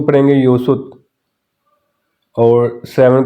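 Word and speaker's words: 여섯: इसको पढ़ेंगे था सुत थासु सिक्स को पढ़ेंगे युत और सेवन को पढ़ेंगे इल गोप इल गोप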